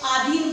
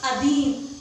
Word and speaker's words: अधीन: हम कुछ अशुद्धियां कर देते हैं, जैसे आधीन बोलते हैं। आधीन क्या है? रोंगे। क्या होगा? अधीन।